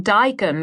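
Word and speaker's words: Dijon: A place where the wine doesn't cost more than my shoes, and the waiter won't look down upon me for making dyen rhyme with bacon.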